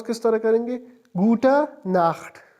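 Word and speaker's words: Gute Nacht: गुटा नाख गुटा नाख यहां पर गुटन के साथ एन नहीं है।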